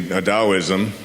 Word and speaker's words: Taoism: As I've been researching, Daoism, which is spelled T AO, I Smo, the Dao.